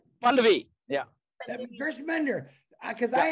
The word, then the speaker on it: Pallavi: Is it Pallavi? Pallavi, yeah.